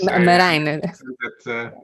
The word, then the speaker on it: Marijn: And Margin. Yes, hi, Marijn. It is Marijn. This is only for Belgian people who know how to say it.